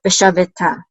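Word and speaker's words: ושבתה: So this is ta. The hey is pretty much silent. Veshaveta, veshaveta, and that means she shall rest.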